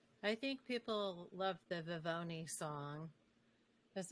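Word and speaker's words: Vivone: I see their face when he says, you know, V-I-V-O-N-E, and it's not Vivonne and it's not Vivonne. My name don't rhyme with Al Capone.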